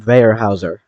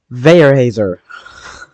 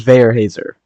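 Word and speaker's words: Weyerhaeuser: towards Rice Lake and Veerhouser or uh Veyhousier. What the heck? Why can't I pronounce that, bro? Veer Hazer. There we go. It's tracking towards Vayer Hazer. I think I've probably still said that wrong, but I think that's a German name.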